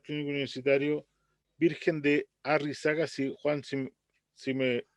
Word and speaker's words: Arrixaca: investigador del hospital clínico universitario virgen de la arrixaca shi huang xing si me corrige la pronunciación arrixaca arrixaca y la verdad que el nombre es